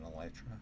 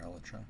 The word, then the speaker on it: elytra: Okay, it's a time when it would be a good time to have an elytra or elra. People say elytra. I had people say elytra. And I have no problem with either of those.